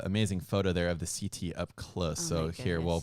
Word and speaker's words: setae: The fuzz that you're seeing all over the crab is the setae, or setae as some pronounce it.